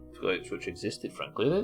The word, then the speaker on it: Ipswich: It's a place called Ipswich, as you can see up there, Mina, but Bielsa couldn't pronounce it, and there's multiple clips of him saying, Ips, bitch.